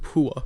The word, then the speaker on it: Pua: that's Undisputed but I assure you it is pronounced Pua no we can figure it out how pronounced